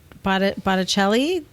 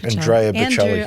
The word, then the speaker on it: Bocelli: SCG, and I was curious because they had Botticelli, opera singer. Yeah, that was months ago though. Bocelli? Yeah. How do you say his name? Andrea Bocelli.